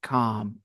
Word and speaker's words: calm: very stressed out okay L is silent calm okay and not stressed